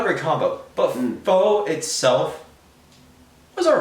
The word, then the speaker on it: faux: combination of beer and foe are fall apparently that i've just learned is how you actually pronounce it um not a great combo but faux itself was all right